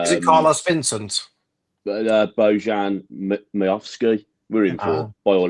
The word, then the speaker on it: Miovski: Yeah, it says here Celtic and Rangers still retain the firm interest in bringing Bojan Miovski. Miovski, that's it. Yeah, you pronounce it better than me.